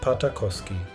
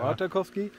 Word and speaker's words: Partakoski: Wir treffen uns in Suomenniemi und Partakoski, zwei kleinen Orten in Südkarelien, die sich durch ihre einzigartige Schönheit und Geschichte auszeichnen.